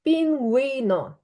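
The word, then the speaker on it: pingüino: Ці дві крапки короче Ці дві крапочки служать для того щоб дати у силу і вона знову починає звучати і тому в нас пінє із крапочками звучить Да і звучить так пінгуно пінгуно ін Гуно пінгуно Ніби там у стояла так пінгуно пінгуно супер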